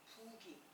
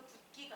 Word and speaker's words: 부기: 부기. 너 참 얼굴이 부었구나 할 때 부기. 제가 부기라고 발음하잖아요. 발음도 붓기가 아니라 부기라고 해야 돼요.